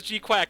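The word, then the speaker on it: GQuuuuuuX: and sunrise are producing Mobile Suit Gundam G okay pronounced as G quack so no joke this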